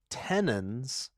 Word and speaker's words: tenons: Tenons, like Yeah. tendons, but not.